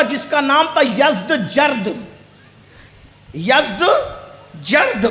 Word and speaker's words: یزدگرد: یزدجرد، اس کو یزدگرد بھی کہتے ہیں ایرانی لب و لہجے میں. عربی میں یزدجرد کہتے ہیں.